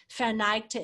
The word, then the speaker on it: verneigte: And so I retook the verb verneigte, bowed, which verneigte is three syllables in German, but only one in English.